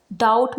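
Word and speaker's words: doubt: Examples हैं जेट, यहाँ पर बी के बाद टी आया है। डाउट में भी बी के बाद टी आया है और सटल में भी बी के बाद टी आया है, तो यहाँ पर बी साइलेंट है।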